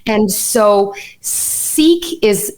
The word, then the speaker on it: Sikh: So Sikh is the anglicized pronunciation.